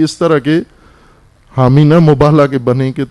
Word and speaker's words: مباہلہ: مباہلہ، مفاعلہ، مقاتلہ، مقاتلہ نہیں مقاتلہ.